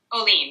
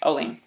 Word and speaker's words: Ohlin: What's the proper pronunciation? Oolen. Yes. Oolen. Oh, so the emphasis on the second salaba. Oolen.